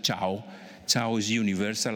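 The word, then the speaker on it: 桥: I would like to show you that in Chinese, bridge is pronounced ciao.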